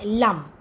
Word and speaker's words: Lam: of your spine, and the sound that corresponds to this chakra is LAM, pronounced as LUM. So we'll just say 3 times LUM together.